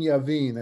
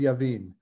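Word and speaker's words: Jabin: this fellow named king javin i think sometimes i wrote it with a j sometimes with a y but it um i i i it's it's with a j but it's pronounced yavin um so this the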